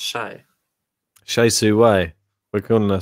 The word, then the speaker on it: Hsieh: Guys, you know her name is pronounced Shay.